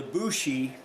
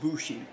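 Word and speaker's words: 節: Now the Bushi, that's a play on words. The character that third character down, that one means song, but it's pronounced Bushi.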